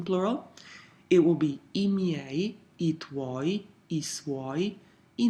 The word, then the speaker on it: miei: It will be I miei, I tuoi, I suoi, I nostri, I vostri, I loro. Notice the pronunciation. Every vowel is pronounced.